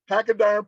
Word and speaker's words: Pachyderm: Pachyderm podcast.